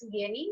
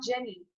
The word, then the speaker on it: Jenny: Again, it's Jenny, not Jenny, like English.